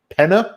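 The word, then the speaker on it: Peña: a cameo from a very young Michael Pitt Penna is how you say his name now you'll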